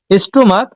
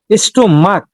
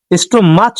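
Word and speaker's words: stomach: আবার এখানেও স্টমাক স্টমাচ না।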